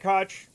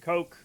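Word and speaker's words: Koch: So, Ed Cotch when he was mayor was pronounced that way, but other people pronounce it coke, you know.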